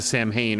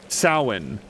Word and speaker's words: Samhain: It's got a pronunciation that doesn't go with, like, it's like a Celtic word, so the letters don't go together. Samhain.